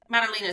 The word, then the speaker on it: Madalina: So, if I was It's Molina, correct? That's the right pronunciation. Malina.